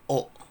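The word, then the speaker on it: を: Nah, untuk yang wo itu juga bisa dibaca o. Jadi wo atau o. Cara membacanya, tulisnya pakai wo.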